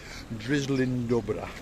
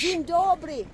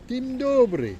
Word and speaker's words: Dzień dobry: So I'm going to say to you, drizzling dobra. There we go. What? Sizzling dobra? That's my pronunciation for good morning in Polish. Dzień dobry. Dzień dobry.